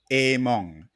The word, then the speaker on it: Emuang: name correctly a mong yeah among like a song right and it spells with the australian big bird in the front emu okay yeah yeah it's not pronounced the way it's spelt that's where a lot